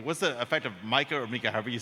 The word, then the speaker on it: MiCA: All right, and then Simon, you touched on MICA. Is that the correct pronunciation? Yes.